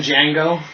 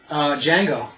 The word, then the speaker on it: Django: Django. Oh, yeah, The Django. The Django Unchained. Jonah Hill was in that. The D is silent, hillbilly.